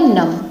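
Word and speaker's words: numb: तो इसे हम जब बी को साइलेंट कर देंगे तो क्या बनेगा, नम, ठीक है।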